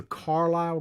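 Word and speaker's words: Carlyle: of time have you ever heard of the carlisle group i'm not going to get too deep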